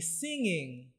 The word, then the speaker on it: singing: Kumbuka ya kwamba hii ngenye hili neno inatamkwa kama ng'a sauti ng'a kama vile unavyotamka ng'ombe. Kwa hiyo usiseme singi. Sema sing ng' sing'i ng' singing.